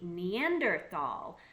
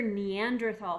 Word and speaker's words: Neanderthal: l or t l and that H is silent was an old German word for the word Valley so it became the Neanderthal Valley now fast forward